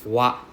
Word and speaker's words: wa: So for example, one grammar particle here will be wa. So instead of pronouncing it as ha, it's pronounced as wa. W-A. Wa. Okay? 90% of the time it is pronounced as wa.